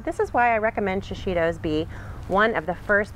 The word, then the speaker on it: shishito: So enter the shishito, three syllables, you can't forget it, shishito.